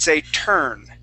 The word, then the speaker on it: turn: So usually, class, when we have an UR sound or a UR spelling, we don't pronounce that U. We don't say occur. We would say occur. Okay. For the most part, we pronounce it occurred, or a turn. So T-U-R-N. Okay, like taking a right turn. We instead of saying turn, we would say turn.